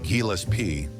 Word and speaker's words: Gillespie: John Burke's Dizzy Gillespie, pronounced Gillespie, was born on October 21, 1917, and died on January 6, 1993.